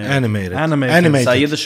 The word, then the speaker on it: animated: Animated. Animated. You just stress on the T.